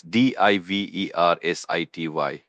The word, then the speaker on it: diversity: It's diversity. The stress is on the second syllable. V. Diversity.